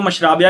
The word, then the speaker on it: Mashrabya: और अगर इंग्लिश में पढ़े तो मशराबिया लिखा हुआ है। मैं दोनों को मतलब प्रोनाउंस कर देता हूं। मशरबिया एंड मशराबिया।